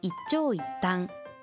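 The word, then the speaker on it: 一長一短: 完全ではないこと一朝の発音は促音と長音が入っているので注意ですあのデパートの食品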